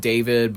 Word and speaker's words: D4VD: I know you're supposed to pronounce it David, but D4VD, listen, he's not talented enough where I go, R.